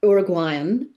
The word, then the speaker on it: Uruguayan: And I did have a I say Uruguayan because that's how they pronounce it. Uruguayan. I did have an Uruguayan um uh sensitivity reader, if you like.